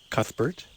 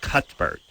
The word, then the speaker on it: Cuthbert: I think it's sad I think you don't do the thought like thank you it's it's like Cuthbert oh really just I don't know I don't know if they the H is silent I know she the